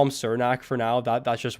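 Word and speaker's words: Cernak: it said it was chair knack so we've been saying sir i've heard yeah it literally said on hockey reference chair dash knack so i'm gonna call him surnak for now that that's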